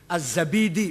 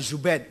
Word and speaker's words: az-Zabidi: gak ada asma asma Hai az-zabidi bukan zubed Sabit apalagi jadi jadi Silakan baca